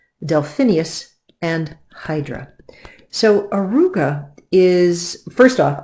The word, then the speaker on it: Auriga: Arouca is first off I find it great fun to say because it sounds to me like an old turn-of-the-century nerd early 1900s car arooga something like that and that is how you say it Arouca is supposed to